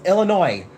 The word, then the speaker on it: Illinois: People from Illinois get really really upset if you're like Illinois. You're from Illinois. They're like there's no s. Illinois. It's Illinois. Illinois.